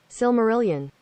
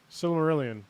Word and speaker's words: Silmarillion: know how to pronounce I believe it's pronounced similarity and so so we're gonna see in a second oh they're not speaking oh wait wait silmarillion silmarillion all right that's how they say Okay Sil Marillion